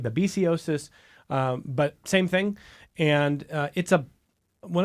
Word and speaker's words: babesiosis: You heard Michael, and a lot of people will pronounce it babiosis, the technical name babesiosis, but same thing.